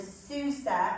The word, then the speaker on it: Susa: so it's transported to Sousa or shushan it's pronounced different ways and or in different versions it says in my